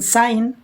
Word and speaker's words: sign: In sign, G is silent.